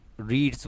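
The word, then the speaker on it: read: बोलेंगे हज भाई लेकिन रीड की पेस्ट फॉर्म ना बेटा लिखने इसको स्पेलिंग से रहती है पढ़ने इसको रेड है फास्ट पे बेटा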